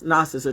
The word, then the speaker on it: Gnostic: to spell it right I mean learn how to say it right it's Gnostic gnosis or whatever not good